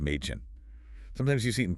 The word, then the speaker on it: Mädchen: A sounds pretty much like the short E in the English word bed or get. Okay, like A. Exactly. Think of Mädchen girl, pronounced Mädchen.